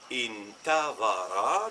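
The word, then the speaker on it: انتظر: Si on dit par exemple intavara, le verbe attendre, il y a le alif au début qui n'a pas de hamza qui va se prononcer i, intavara.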